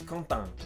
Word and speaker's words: Quentin: They have several nasal vowels, like in the common name Quentin. I struggled with that one. This guy kept saying, my name's Quentin. What is Quentin? So you gotta say a lot of sounds through your nose in French and other